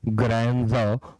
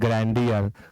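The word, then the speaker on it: grandeur: ग्रैंडर, ग्रैंडर, बहुत लोग पढ़ते हैं ग्रैंडियर, गलत उच्चारण ना करें, ग्रैंडर पढ़ें इसको।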